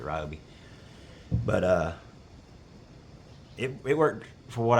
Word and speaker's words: Ryobi: It was a Ryobi, or Ryobi, however y'all want to pronounce it. I pronounce it Ryobi.